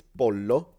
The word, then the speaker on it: pollo: Pollo is like Okay, it's all different. So in Italian, it's pollo, so we just pronounce the double L, pollo.